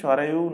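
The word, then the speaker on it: Sarayu: তো অযোধ্যা অবস্থিত সরজু নদীর তীরে, বা ইংলিশে উচ্চারণ কি হবে? সরায়ু নদীর তীরে, সরজু নদীর বা সরায়ু রিভারের তীরে অবস্থিত।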